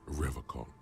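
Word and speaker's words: Revachol: own Visage pretend oh he pronounces revon with a hard K unlike my mug his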